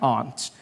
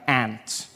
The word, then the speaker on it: aunt: For instance, I pronounce the opposites of uncle as aunt. I say my aunt. Out here, you say my aunt, which to me is an insect, which made me look